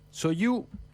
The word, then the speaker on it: Sochaux: Hay un club francés llamado Soyou Montbéliard. Así se pronuncia. Se escribe Sochaux Montbéliard.